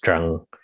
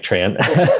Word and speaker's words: Tran: vietnamese is jeong minfo so tran is pronounced in vietnamese is pronounced drang which doesn't sound anything like tran and then my first